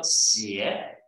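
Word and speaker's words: 鞋: Les chaussures sont prononcées en chinois comme xie, et ensuite, il y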